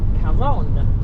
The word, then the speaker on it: Carron: So, I had to ask a guy how to pronounce it cuz it's Karen with a C and it's a double R. It's double R, which in Spanish is a R sound.